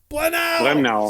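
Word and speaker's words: Brennauer: Blenau. See if I say it. Blenau. If I say it angry, it works. Blenau. That's Blenau. It's easy. We're not French.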